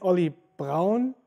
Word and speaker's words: Oli Braun: Normally it's Oli Braun. This is the like German pronunciation, but it's not really that big of a deal.